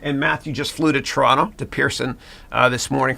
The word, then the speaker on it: Toronto: I'm Canadian from uh Toronto and you'll know who a real Canadian is because they don't say Toronto the T at the end they don't pronounce it yeah yeah yeah yeah